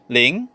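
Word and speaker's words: 零: ten so let's start with number zero it's pronounced as ling ling ling next we have number one e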